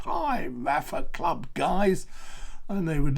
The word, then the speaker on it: Rapha: Now the next one is that clothing brand that you've all heard of, and you were thinking of doing Rapha 500.